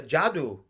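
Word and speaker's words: Yadu: I said, well, in ancient India, they have a dynasty called the Jadu dynasty, and sometimes they pronounce their Y's like a J.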